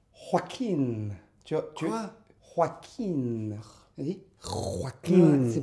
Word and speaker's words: Joaquin: C'était Joachim. oui, Joachim. Joachim. Il faut dire Joaquin. Quoi? Joaquin. Vas-y. Joaquin. C'est pas. Ne Ouais. racle pas la gorge. C'est. Après, c'est le. Joaquin.